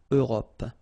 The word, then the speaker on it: Europe: Remember this final E, it's not really present. It only gives you the possibility to pronounce this P, PP at the end, okay? Europe.